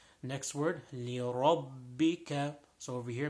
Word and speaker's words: لربك: Next word, لِرَبِّكَ. So over here, making sure the ra is pronounced with a full mouth.